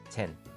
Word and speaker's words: Zen: 그래서 오늘은 조용히 물어보겠습니다 젠, 그래서 그게 뭔데요? ZEN은 일본식 발음입니다 한자론 선입니다 인도의 디아나가 깊은 명상으로